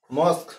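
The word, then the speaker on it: mosque: I will go টু মস্ক এটন্স হলো হলো মস্ক এটা দেখ বানানটা এম ও এস কিউ ইউ ই এটা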